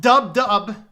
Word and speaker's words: WW: Simulators known as WW. Is that for World War? I'm telling you. Pronounced dub.